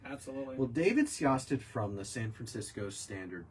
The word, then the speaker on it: Sjostedt: Oh, Sjostet. Wow. SJOSTE. What is it? DT. No, there's a J in there. SJOSTEDT. Yeah, Sjostet.